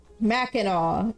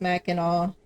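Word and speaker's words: Mackinac: guess the fudge is more important honestly yeah Mac andau it's pronounced Mac andau the the other C I'm G to call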